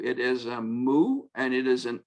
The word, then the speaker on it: mu: As in English, in English students, I would say like a cow.